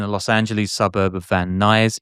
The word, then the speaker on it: Van Nuys: Los Angeles suburb of Van Nuys. Is it called Van Nuys? Van Nuys? I think that's how you say it, yeah.